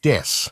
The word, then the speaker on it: です: word death instead of the Japanese word des, ベビーメタルです as des means I am or we are and is pronounced similarly.